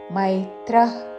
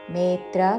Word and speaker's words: మైత్రః: दीर्घ भूतानाम अद्वेట సర్వభూతానాం మైత్రః కరుణ మేత్ర కాదు మై ఐత్వముతో మైత్రః కరుణ విసర్గ తర్వాత క